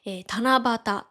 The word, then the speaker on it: 七夕: のように七に夕って書いて、七夕と読むようになったと言われています。